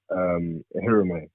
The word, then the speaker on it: Ehireme: So pronounce it Ehireme for my parents. My parents say Ehireme. But yeah, like Ehireme is yeah. So yeah, that's how it's pronounced.